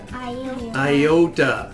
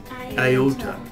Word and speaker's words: iota: Iota. Iota. Sounds like Yoda. It sounds like Yoda, but it's iota. Let's do all 4 letters. Ready? Zeta, eta, theta, iota.